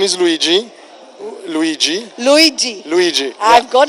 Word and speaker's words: Luigi: please tell us your name my name is luigi luigi luigi luigi i've got it right that's the right pronunciation thank you thank you so your take